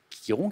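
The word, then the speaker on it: Chiron: enchaîne échos héraclès quiron quiron qui s'écrit ch alors écho la nymphe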